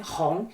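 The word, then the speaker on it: 红: symbolize joy and prosperity Hong is for the color red itself and is used as an adjective the pronounciation Hong sounds like Hong in Hong Kong so you can think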